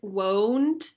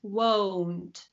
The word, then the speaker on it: won't: should pronounce this word won't is pronounced with the oh it kind of won't won't won't that's right won't because there is another